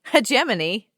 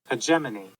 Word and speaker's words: hegemony: Hegemony? Yep. Love it. Hegemony.